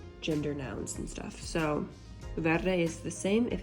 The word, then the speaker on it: verde: bunch of ours so remember to roll your r's as much as best as you can when you say it Verde okay so this sentence